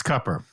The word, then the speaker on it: Cooper: this person deliver cupper cupper he says it's cupper we've all been pronouncing it wrong it's not Cooper it's CER he says it's cupper yeah not